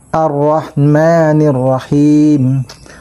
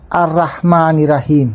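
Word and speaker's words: ar-Rahmanir-Rahim: arrahmanirrahim ulitin ha ra ang letrang ra kapag fath ang baw ay makapal kaya kapag sinabi mong arah Ay hindi mo natamaan yung tamang pronunciation kaya kailangan practisan mo ng arrahmanirrahim. Kung pakikgan mo para makagamit ka rin ng wa eh dahil sa makapal kong bigkasin. Parang arrahmanirrahim kung pakikgan mo kaya mas mabuti pa yung ganun yung maririnig mo kesa naman arahman rahim.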